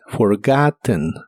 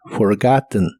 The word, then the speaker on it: forgotten: pasado participio es forgotten la e de esta palabra se pronuncia muy suavemente forgotten forgotten y en inglés americano